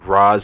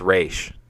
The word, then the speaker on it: Ra's: Dark Knight trilogy too they kept saying Ra's algol and it's race it's always been race and they mispronounced his